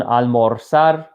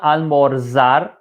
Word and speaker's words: almorzar: In every country except one, they're pronounced as the letter S. So this is not almorzar.